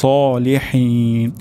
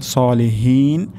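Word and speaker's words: الصالحين: তাহলে আমাদের এখানে সদ উচ্চারণ করতে হবে হিউস, হিউস, হিউস সলিহিন। শেষের দিকে হা উচ্চারণ হবে সলিহিন, হা হবে না, সলিহিন এটিও গলার মাঝখান থেকে উচ্চারণ হবে।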